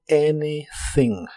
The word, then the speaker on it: anything: no estoy haciendo nada la a de anything se pronuncia como e y la th es la th suave de inglés que haces como soplando entre la punta de tu lengua y los dientes de arriba doing anything doing anything y usaremos el